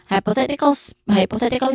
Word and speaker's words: hypothetically: So pronunciation wise, hypothetically, which has many syllables, that is the stress syllable here, which is a short sound. Hi has a diphthong sound I. Po, short o sound, and then that stress